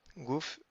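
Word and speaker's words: גוף: point à l'intérieur et le P final qui n'a pas de point à l'intérieur donc ça se prononce comme un f fait donc c'est un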